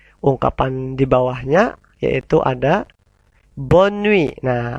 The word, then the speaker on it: bonne nuit: Nah, awas ketika ada huruf N-nya 2 ya, kemudian setelah huruf N ada huruf E, maka tidak dibaca sengau. Dibaca sengau apabila hanya ada huruf O dan N saja, tidak double. Ya. Jadi kita tirukan dan kita ucapkan bersama-sama. Allez, bonne nuit. T-nya hilang juga. Bonne nuit, bukan bon nuit, tapi bonne nuit.